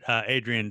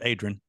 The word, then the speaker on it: Adrian: in Oklahoma, Adrian's only 2 syllables. It's Adrian.